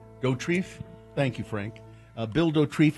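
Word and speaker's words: Dauterive: Dorrief.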